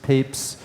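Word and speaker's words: Papez: research on emotion is this scientist named James papes it's pronounced papes and he was the first to actually describe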